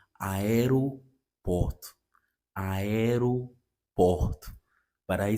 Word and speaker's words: aeroporto: So I tend to pronounce this word as aeroporto, aeroporto. Okay, but I discovered it's not aeroporto, it's aeroporto, aeroporto.